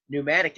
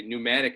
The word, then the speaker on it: Pneumatic: your wager on Saturday, Pneumatic spelled with a P, a silent P in front.